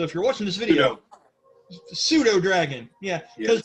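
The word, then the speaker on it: pseudodragon: So if you're watching this video, pseudo dragon. Yeah, because the P is silent because I'm a dumbass.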